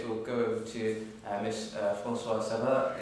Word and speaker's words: Francois-Cerrah: No, in which case we'll go over to Miss Francois-Cerrah. Is that French pronunciation correct? Perfect.